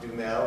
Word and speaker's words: Dumesle: in our common struggle my name is dumel that's how it's spelled it's that's how it's pronounced it's a little uncommon is has a French